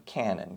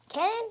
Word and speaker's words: Canon: Western Canon very good Canon you mean like boom boom well the two words Cannon and Canon are pronounced the same but they're spelled differently so that we will